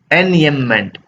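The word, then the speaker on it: enjambment: एनयमेंट, इसको बोलेंगे एन एनयमेंट। एनयमेंट, ये जे साइलेंट होता है, ठीक है, एनयमेंट बोलेंगे इसको, कि जब पोएम की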